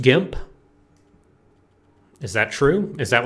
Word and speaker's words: GIMP: It's pronounced GIMP.